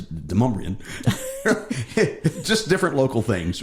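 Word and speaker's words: Demonbreun: And of course, we have Demon Bruin Road, which is not how you pronounce it. It's Demumbrian.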